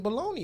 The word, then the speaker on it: bologna: the G in bologna is silent.